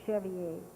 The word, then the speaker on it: chevalier: across the fact that that is the way c-h-e-v-a-l-i-e-r is pronounced the chevy a so there may be